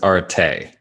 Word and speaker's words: Arattai: Pronunciation online says Arattai.